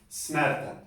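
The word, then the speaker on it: snerta: Esta pues se pronunciaría aquí, como viene antes de la R, es como snarta, snarta, snarta, snarta.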